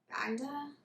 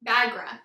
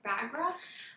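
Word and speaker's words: Baghra: the darkling and um i'm going to say her name wrong bagda it's been a hot second bagra fat bagra i knew i had it wrong because it's been a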